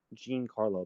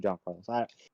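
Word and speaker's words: Juan Carlos: i don't know like some people like to say my name is like jean carlo but my name is actually john carlos pronunciation my username is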